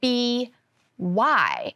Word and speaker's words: by: Now, by is spelled B-Y, and I remember learning in kindergarten that Y says yeah, but if I say the word by, I hear the long I sound at the end of it, I. So in this case, the Y must say I instead of y, I.